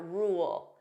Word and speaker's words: rule: take a look at rule notice here there are two sounds we have r o so that dark L rule rule so if I pronounce this fully you hear those two sounds rule in a more